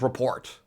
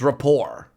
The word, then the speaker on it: rapport: report was it Rapport Rapport and not report it's Rapport really Rapport okay sure if you say so but then what